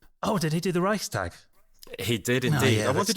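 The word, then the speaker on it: Reichstag: pronounced it wrong go how's it pronounced I would say Reich stag oh well it depends on where you are in the country but yeah that that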